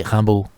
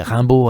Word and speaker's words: Rimbaud: Essayez de prononcer Rimbaud à l'américaine, ça donne quoi ? Quoi ? Rimbaud ? - Non, avec l'accent ! - Ah, à l'américaine. Rimbo, Ranbaud... ah !